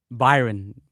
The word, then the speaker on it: Bayern: Is it Byron Munich? Is that how you pronounce it, Jimmy? Yes, you're correct. He likes Bayern to qualify today. Byron.